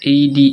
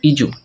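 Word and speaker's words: edu: প্রতিষ্ঠানে ব্যবহার করি ইজু ইডি ইউ ডি ইউ ইডু না এটার উচ্চারণ হচ্ছে ইজু ইজু দেখো এদের থেকে আট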